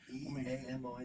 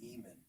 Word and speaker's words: Eamon: E-A-M-O-N is usually Eamon.